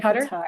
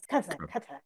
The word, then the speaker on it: Qatar: Just say Qatar. It's Qatar.